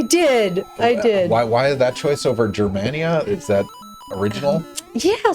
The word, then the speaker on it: Germania: Sorry, to follow up on this, you pronounced it Germania, right? I did. Why that choice over Germania? Is that original? Yeah. So in Latin, the G would be a hard sound.